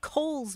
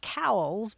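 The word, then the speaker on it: Cowles: known I mean there's a mountain here in in San Diego called Kohl's mountain and for years I called it cowls because um that's what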